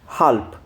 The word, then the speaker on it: halb: हाफ बोलते हैं German में हल्प। देखो लास्ट में हमें बी नजर आ रहा है। अगर किसी वर्ड के लास्ट में बी होता है तो आप उसको प्रोनाउंस करते हैं पै यानी कि पी की तरह।